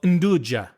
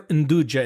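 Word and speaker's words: 'nduja: you she that she's heard of it called induja which is a spreadable sausage and it's made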